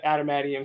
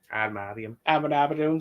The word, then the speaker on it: adamantium: But even without the suit being a carbonadium suit or an adamantium suit, I mispronounced that. Yes, adamantium suit.